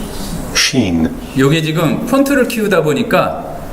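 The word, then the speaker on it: שׁ: 따라서 왼쪽에 붙으면 여긴 sin이라고 했는데 sin, sin 이제 이렇게 쉬가 되지 않는 그 sin, 시옷 발음 비슷하고 shin, shin. 요게 붙으면 이렇게 발음 기호에서 s 길게 늘린 shin으로 되는데 그 히브리어 알파벳이 몇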